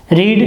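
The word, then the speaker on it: read: रीड, रीड के भी रीड। देखिए यहाँ पर इसका उच्चारण रीड है, लेकिन सेकंड वर्ड में इसका उच्चारण रेड हो जाता है।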